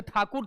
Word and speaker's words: ठाकुर: नाथ टैगोर रविंद्रनाथ टैगोर ऐसे ठाकुर थे अंग्रेज ठाकुर नहीं बोल पाते थे टैगोर बोलते थे दोनों सेम है चटर्जी को चट्टोपाध्याय बनर्जी